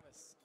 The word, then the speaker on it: Pravus: Pravus. Pravus Gallery, yes.